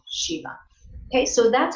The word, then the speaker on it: Shiva: But in Sanskrit, you would always pronounce that final A, Shiva.